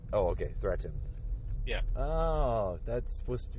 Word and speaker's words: Threatin: No, it's threat. Like threat. Oh, okay. Threatin.